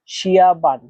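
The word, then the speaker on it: 下班: এখানে দেখেন শিয়া এই শব্দটাতে চাইনিজের 4 নম্বর টোন ব্যবহার করা হয়েছে। আর 4 নম্বর টোন উচ্চারণ নিয়ম হচ্ছে জোরের নিচে নামা। শিয়া, শিয়া, এটা এভাবে উচ্চারণ করতে হয়, জোরের নিচের দিকে নামা। তারপর দেখেন বান এই শব্দটাতে চাইনিজের 1 নম্বর টোন ব্যবহার করা হয়েছে। আর 1 নম্বর টোন উচ্চারণ নিয়ম হচ্ছে সোজা লম্বাভাবে, এটা একটু টেনে বলতে হয়।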